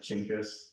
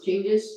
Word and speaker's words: Genghis: You know, it's like people pronounce it different ways, like I heard it like Chinggis. No, Genghis is original.